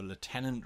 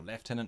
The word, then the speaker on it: lieutenant: a captain ray or a lieutenant rank or leftenant rank how you ever you want to pronounce it let them get to